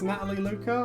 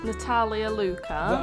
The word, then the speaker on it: Natalia Luca: Who we got for, I think that's Natalie Luca or someone else? Natalia Luca. Okay, so am I pronouncing that wrong, am I?